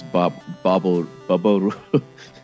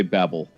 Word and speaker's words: Babel: Well, according to the Japanese, it's Babel. So we could say Babel.